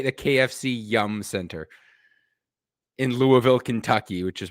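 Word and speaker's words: KFC Yum! Center: No, you obviously don't you obviously don't pronounce the exclamation mark in it, but it's KFC Yum Center.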